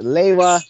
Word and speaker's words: Lewa: which wise do you prefer pronouncing Lua as? Is it Lewa, Lewa, or Lua?